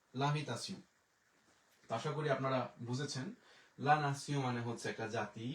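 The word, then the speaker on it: la nation: তাহলে আমরা যে এল আ লা, এন আ না, তে ই ও এন উচ্চারণ হইল সিউ, লা নাসিউ। এটা নামে কিন্তু একটা মেথড স্টেশনও আছে, অনেকে বলে নেশনে যায় না, নেশন ইংলিশে বলি, কিন্তু ফরাসিতে অবশ্যই হবে লা নাসিউ।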